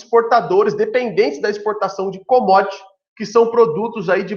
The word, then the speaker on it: commodities: Se escreve commodities, né? Mas se lê commodities, beleza?